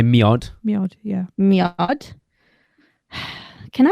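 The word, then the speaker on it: mjød: Miod. I've literally just told you how to pronounce it.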